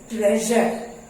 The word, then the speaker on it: treasure: Then the word is T-R-E-A-S-U-R-E T-R-E-A-S-U-R-E and it is pronounced treasure।